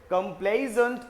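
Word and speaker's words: complaisant: Pronunciation भी देखना, इसको क्या बोलते हैं, कंप्लेजेंट और कंप्लेसेंट।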